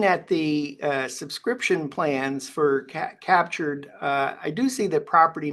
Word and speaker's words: CAPTUR3D: That's spelled CAPTUR3D. and that'll take you to the Captured website.